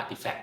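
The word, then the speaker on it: RTFKT: rtf KT วะ อ่า คิด ว่า มัน อ่าน ว่า artifact นะ ก็ จริง ๆ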